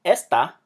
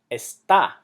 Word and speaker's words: está: And the word está, as in is, it's not pronounced esta like the word this. It's pronounced está, which means is.